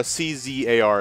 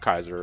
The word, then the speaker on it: czar: Okay, so the C is silent.